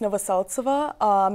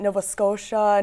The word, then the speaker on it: Novoseltsova: Yeah, so my last name is pronounced Novoseltsova, and a lot of people pronounce it Nova Scotia, Novosteltsova, all kinds of ways.